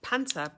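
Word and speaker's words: Panzer: panta well in German panta p a n z r panel and I'm pronouncing it the way Germans pronounce it but it's spelled p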